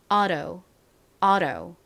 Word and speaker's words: auto: 자, AU는 한국식으로는 O라고 주로 표기하지만 미국식 발음으로는 원래 무슨 소리가 난다고 말씀드렸죠? 어에 가깝게 소리가 납니다. 그리고 다음 뒷부분에서 이 T는 원래 티읕 소리가 나는데 이 미국식 약간 버터를 바른 듯한 발음으로 하면 T가 약간 리을처럼 발음이 납니다. 그리고 이 O가 O 이렇게 발음이 나서 이렇게 요상하게 auto 이렇게 발음을 합니다.